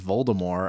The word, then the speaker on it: Voldemort: oh yeah she so volta more is kind of and by the way it's pronounced Volta more I didn't know that there's no T at the end you don't say the T C you silent well